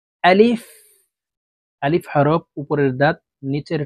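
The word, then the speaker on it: ألف: সঠিক উচ্চারণ হবে না আলিফের উচ্চারণ তাড়াতাড়ি করে পড়তে হবে আলিফ আলিফ বা এখানে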